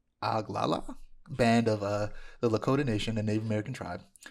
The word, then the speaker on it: Oglala: Charlie Ramsey, a non-binary member of the, let me try to pronounce this, Oglala. Oh, let me try one more time. I'm certain that was wrong. Let me read it. Oglaa, Oglala, band of the Lakota Nation, a Native American tribe.